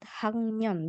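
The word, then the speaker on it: 학년: atau semester du Nah untuk membaca kata tingkat hangon bacanya Ya hang tulisannya H tapi dibacanya hang untuk menyatakan angka di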